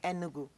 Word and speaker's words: Enugu: Enugu.